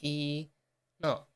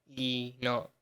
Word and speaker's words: Enoch: I think that's Enoch. That's just 2 syllables, right? I'm pretty sure it's 2 syllables. I think Enoch. I think that yeah. Enoch. Yeah, like two. I think that should be 2 syllables.